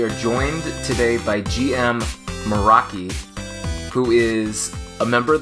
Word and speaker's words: Meraki: a language i don't speak but i also pronounce it meraki uh it's actually got a pretty cool background